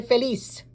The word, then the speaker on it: feliz: Now, if you are listening to the locals, they would say soy feliz. Okay, that Z has an S sound for them.